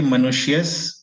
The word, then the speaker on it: मनुष्यस्: मनुष्यस देखिए कभी भी आधा शब्द का उच्चारण जो होता है वो पिछला अक्षर के साथ कीजिए, कंफ्यूजन नहीं होगा। उसको नेक्स्ट अक्षर के साथ कीजिएगा तो कंफ्यूजन होगा। तो सिंपली ब्रेक कर दीजिए। मनुष्यस के साथ का उच्चारण कीजिए और जो इकार है